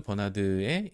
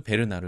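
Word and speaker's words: Bernard: 이라고 하는 분이 이 클로드 버나드의 배를 혹은 클로드 베르나르 라고도 이제 발음이 되는데 이 베르나르 외에 아이디어를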